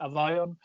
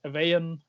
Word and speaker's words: Avaion: yeah yeah kind of it's uh a violent german pronunciation like avayon i heard it like in english evaen avion and stuff like that i heard like